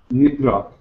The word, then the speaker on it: Nidra: n d r a no it's yeah it's pronounced as Yoga Nidra Nidra Nidra yeah so